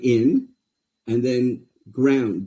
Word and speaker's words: nGRND: So that word is in, right? In ground. G r o u n d. We just removed all the vowels. It's in ground.